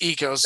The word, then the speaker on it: Eos: echos sport EOS sport it's never gonna be echos sport it's EOS it is the echos